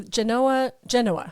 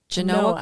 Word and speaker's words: Genoa: So Genoa. Whoops, I gotta say Genoa. it right. It's pronounced Genoa. Noah, with the Noah on that, like Noah's Ark. Yes. Genoa, Colorado.